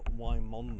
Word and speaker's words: Wymondham: a look around so St Peter's WI Mom it may not be as Grand as Windam Abbey which is spelled the same pronounced differently but it is certainly a